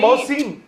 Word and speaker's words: मोहसिन: नहीं, मोहसिन, मैं बोल मोहसिन रहा हूँ, नाम तो आप सही है, लेकिन जो प्रोनाउंसिएशन है ना, उसमें आप सिन बोल रहे